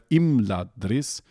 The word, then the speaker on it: Imladris: liquida, which says that if you have a mute followed by a liquid consonant, then they count really as one consonant, both for the purposes of dividing the text into syllables and for the purposes of stress. And so instead of Imladris, you have Imladris, and you also have Nargothrond instead of Nargothrond.